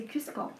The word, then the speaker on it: Qvistgaard: À la française c'est bien prononcé, Oui. à la danoise c'est Kwijkaart.